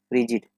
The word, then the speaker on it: frigid: हम जान लेते हैं, फ्रिगिड पढ़ते हैं या रिगिड पढ़ते हैं, FRIGID। वेरी कोल्ड टेम्परेचर होता है, बट इस लेबल दे रखा है, ये फ्रिजिड। ओके, तो इस तरह से हम इसको प्रोनाउंस कर सकते हैं।